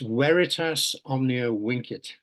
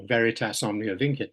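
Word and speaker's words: Veritas omnia vincit: my University's motto is I was taught when I did Latin at school to pronounce V's as W's so it's weitas Omnia winit or Veritas omn init which means truth conquers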